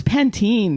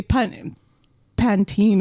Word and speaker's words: Pantene: of really weird too or pant no it's pantene it still blows my mind the way you say pun pantene over there no of